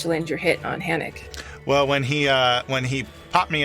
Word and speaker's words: Hanok: It's pronounced I. Hanok.